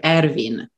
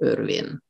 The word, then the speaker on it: Ervin: law in hungary and actually we say his name irvine just in english we say erwin so it is his